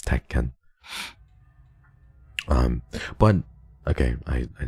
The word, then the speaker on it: Tekken: for Iron Fist teken that's why it's like pronounced te it's not actually Tekken like one word but it's teken um but okay I I didn't sorry for